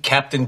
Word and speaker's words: Cap'n: but seriously did you still eat Captain Crunch first of all do it's pronounced captain and you disrespect his service to